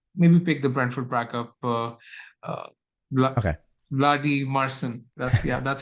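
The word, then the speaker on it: Valdimarsson: So maybe pick the Brentford backup, Vladi Marcin. That's how it's pronounced. Vladi Marcin.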